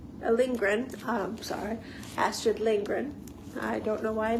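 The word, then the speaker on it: Lindgren: is uh the Thompson it's retold by astd lingin lingren um sorry astd lingren I don't know why I mispronounced that but I did and it is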